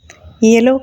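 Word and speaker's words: yellow: எல்லோ colour அப்படி தான் சொல்லணும். எல்லோ அப்படின்னு அழுத்தி சொல்லக்கூடாது, எல்லோ அப்படின்னு ப்ரொனவுன்ஸ் பண்ணணும்.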